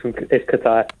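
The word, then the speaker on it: Kaitaia: Is it Kataya? Is that how I pronounce it, James? Yes, Nigel, yes. It's Kataya.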